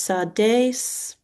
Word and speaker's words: Sardis: Um, Sardis must be a region or a place is pronounced sardis.